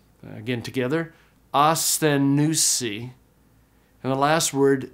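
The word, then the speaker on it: ἀσθενοῦσι: In the last line, the words are pronounced asthenousi. Again, together, asthenousi.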